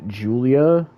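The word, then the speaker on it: Giulia: to say her name, but apparently it's it's pronounced Julia.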